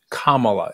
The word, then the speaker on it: Kamala: president Harris um uh I believe the right pronunciation of her name is Kamala is that correct that's correct okay and so I